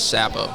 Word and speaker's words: Capouch: your last name again my last name is sapo yeah how do you spell that c a p o u c if